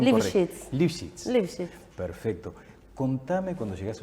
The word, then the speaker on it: Libschitz: A ver, dame la pronunciación correcta. Liphets.